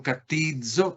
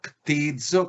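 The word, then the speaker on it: κτίζω: No es fácil de pronunciar porque tiene una capa introduciendo la expresión ctizo, ctizo, ctizo.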